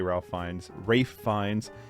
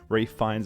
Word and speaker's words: Ralph Fiennes: And it's got Richard Ayoade, I always want to say Ralph Fiennes, and Rupert Friend. I got someone yelled at me about how I pronounced Rafe Fiennes.